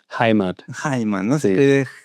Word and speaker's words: Heimat: ¿Cómo se pronuncia? Heimat.